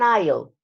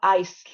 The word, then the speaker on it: aisle: right what is an aisle look at the pronunciation is is not ice is aisle aisle the same as Island the S is not pronounced what is the aisle